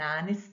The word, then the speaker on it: honest: you get a sound a consonant letter but a vowel sound we have consonant h and h here but when we pronounce it we say an hour an honest man this really seems